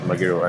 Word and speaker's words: Magero: It's not as easy as you're gonna names that I will know that Magero is pronounced as Magero, and you know.